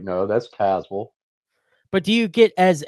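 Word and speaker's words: Tazewell: Um and G according to GPS it's Tazwell. H but really how it's spelled it should be pronounced Tazwell. But down here we're like no that's Tazwell.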